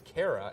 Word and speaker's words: Kara: I read these names for years, and then I meet someone, and I'm like, "Oh, Kara," and it's Kara, and I'm like, "That is not how I pronounce it in my head my entire life."